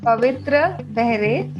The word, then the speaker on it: Pavitra Behre: So, today with me, I have Pavitra Behre, right? If I am not Yeah. pronouncing your name correctly. No, no, you actually pronounce it right on the first try. So Okay. kudos. Okay, great. Pavitra Behre.